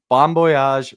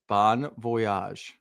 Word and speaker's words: bon voyage: Are you pronouncing the V as a B? I'm pronouncing the V as a Y. What am I supposed Bonvoyage? Bonvoyage. Yeah, you said bon voyage.